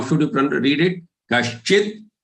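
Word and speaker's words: कश्चिद्: Kaschid, as if there is a half da followed by following the kashchi.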